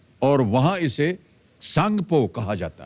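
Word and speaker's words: Tsangpo: वह तिब्बत चीन में है और वहां इसे सांगपो कहा जाता है सांगपो यानी कि टी एस ए एन जी पीओ इसकी स्पेलिंग है अरुणाचल से गुजरने वाले इस हिस्से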